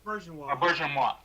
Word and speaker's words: Auberjonois: Auberjonois. Auberjonois.